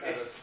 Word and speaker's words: Ennis: Dude, Ennis. it's literally tennis without the T. Yeah. Or Dennis without the D.